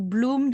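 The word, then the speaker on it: bloem: o i dot com so bloom the dutch way means flowers in dutch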